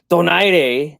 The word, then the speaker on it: Donaire: but I believe that Donaire, or how should I say it, Donaire, right? I'm trying to pronounce things correctly. This is not, you got to do it in Spanish.